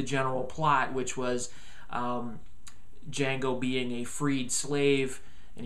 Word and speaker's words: Django: Jamie Fox is just unbelievably good as Django. The D is silent.